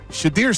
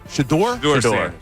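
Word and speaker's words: Shedeur: to each his own I guess but yeah shadir Sanders having the shadir shador I always say his name wrong sh shador yeah he's got to carry that jacket around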